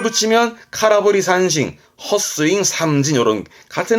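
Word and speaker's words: 空振り: 공짜 했었죠 빌 공짜 비었다는 건 카라 그래서 발음은 카라브리 카라브리 허공을 흔든 거잖아요 야구할 때 헛스윙하는 겁니다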